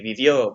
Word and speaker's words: vivió: It'd be vivió, V-I-V-I-O with an accent on the O.